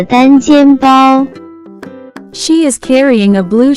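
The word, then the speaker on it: 单肩包: Next vocabulary that we have is one shoulder bag, which in Chinese can be pronounced as 单肩包单肩包单肩包 Let's break down it to understand it even more.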